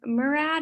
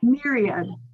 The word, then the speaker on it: myriad: Is it the Murad? Is that how you say it? Myriad.